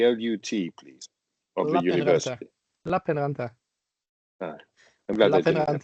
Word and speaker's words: Lappeenranta: Before you start, how do you pronounce the L in the LUT, please, of the university? Lappeenranta.